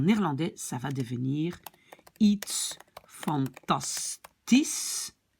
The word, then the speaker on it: fantastisch: En néerlandais, ça va devenir iets fantastisch, parce que le SCH se prononce déjà comme S.